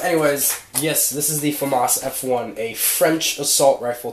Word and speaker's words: FAMAS: famas f1 and yes it is pronounced famas I don't care if the creative bird says famous which is like it I don't even famous I don't even know where he came up with that but no offense of